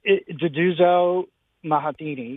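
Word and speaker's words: Nduduzo Makhathini: I can't pronounce the last name. It's Duduzo Mahatini.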